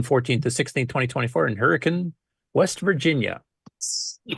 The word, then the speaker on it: Hurricane: You don't know how many times I've sat here listening to you say that and say, it's Hurricane. Yeah. Yeah. I don't know why they pronounce it differently there than everywhere else in the world.